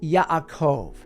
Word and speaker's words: Yaakov: The name Jacob would have been pronounced Yaakov, and the name actually